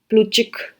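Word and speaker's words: Plutchik: general life में अच्छा इसमें है ना टी साइलेंट होता है जब आप इसको प्रोनाउंस करते हो तो ये प्लू चिक प्लू चिक कहते हैं इसको इनका नाम को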